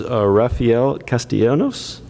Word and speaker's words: Rafael Castellanos: going to be speaking from the table, is Rafael Castellanos. Is that correct pronunciation with the Port of San Diego?